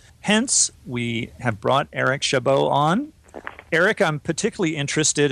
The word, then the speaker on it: Chabot: your name I said Shabbat you know what everyone mispronounces my name is French and it's got that bizarre ending where the tea silence